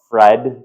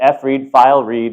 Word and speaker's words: fread: You can call it Fred, kind of rhymes with bread, but fread, file write.